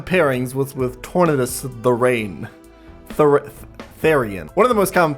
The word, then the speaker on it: Therian: One of the most common pairings was with Tornadus Therain. Is that how you pronounce Therain? One of the most common pairings was with Tornadus Therain. Therian.